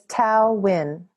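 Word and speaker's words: Thao Nguyen: for having me it's my full name is tau win and we love your band tau and the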